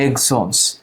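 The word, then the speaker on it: exons: দেখো এখন ইন্ট্রন এটা হচ্ছে এক্সন, শব্দটা হচ্ছে এক্সোনস, উচ্চারণ হবে এক্সোনস।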